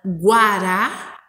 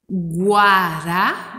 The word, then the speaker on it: guará: por exemplo, a palavra guará. Viram? Prestem atenção. Guará, dá para ouvir o som da letra U, inclusive quando a gente